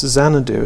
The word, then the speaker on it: Xanadu: But of course, the way we pronounce Xanadu as well, it's Z.